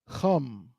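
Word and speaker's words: חם: The word is chum. You hear that pronunciation? Chum. It's not come. That is a cha. A cha. A cha. Right? It's like somewhere between a ha and a ka.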